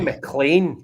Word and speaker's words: McLean: kenny mclean folk right it's kenny mclean like john mcclane a die hard yeah as no mclean